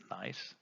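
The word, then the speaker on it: gneiss: within the rock examples nice that's pronounced nice schist slate fill light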